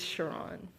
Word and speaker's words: Sharon: It's spelled like Sharon, but it's Sharon.